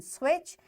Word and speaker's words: switch: words with silent letters such as T in switch and G in high this is our today's